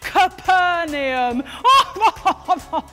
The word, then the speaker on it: Capernaum: to a house in capernaum it's actually pronounced capernaum and he is teaching